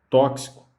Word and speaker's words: tóxico: Mais um exemplo aqui, a palavra tóxico. Então, o que acontece? O X aqui, ele desempenha a função, ele é pronunciado como CS, mas é escrito com X.